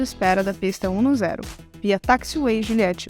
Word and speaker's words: taxiway: A letra A, que segue a letra T, ganha um som entre a letra A e a letra E aberta. A. A. O mesmo som da palavra maçã. Apple.